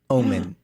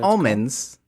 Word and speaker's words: omen: awesome I said it I said it right this time omen not almonds The Witch's omen that's our that's our group name oh right because remember how I always say the witch is almond but it's actually the